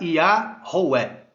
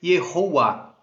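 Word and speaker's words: יהוה: O tetragrama, em sua pronúncia inteira, antes do exílio babilônico, sem a influência do aramaico, era Yahweh. Posterior ao exílio babilônico, com influência do aramaico, passou a ser Yehová.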